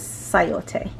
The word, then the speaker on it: sayote: This is sayote, or if you just look at it, it's like chayote, but it's pronounced as sayote.